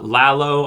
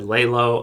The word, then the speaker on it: Lalo: between gus and uh lalo i apologize last time i said layla i don't know why